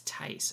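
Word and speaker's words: Theiss: partner is mike this t-h-e-i-s-s it's tice i think it's pronounced well it might be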